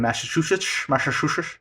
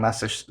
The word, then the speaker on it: Massachusetts: It's like just south of Cape Cod in Massachusetts. Mm-hmm. I feel like I have a hard time saying Massachusetts.